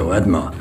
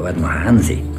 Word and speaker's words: Artmann: Blödsinn, das heißt Ordmann. Wir heißen Ordmann bei uns aus. Ja, der Ordmann Hansi ist da. Das ist genau in der Betonung, der Ordmann Hansi.